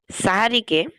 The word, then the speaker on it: সাহারি: আগে, সেটাকে বলা হয় সাহারি। আর সেহের বা সিহর, এটা হচ্ছে জাদু, অর্থাৎ সেহেরি বলে জাদু হয়ে যায়, মানে উচ্চারণগত পার্থক্যের কারণে। তবে যেহেতু এটা ভাষাগত একটি